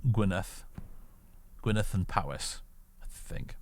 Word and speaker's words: Gwynedd: Because the Y in Welsh is like an sound, isn't it? And the DD is a th sound, so Gwynedd.